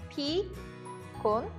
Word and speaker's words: 피곤해요: Let's first practice the pronunciation of pigonhae. 피곤해요.